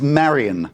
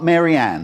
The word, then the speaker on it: Marian: Her name is Marian, not Maryanne. Oh, Marian.